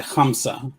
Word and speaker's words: Hamsa: Did I pronounce that correctly? It's a Hamsa.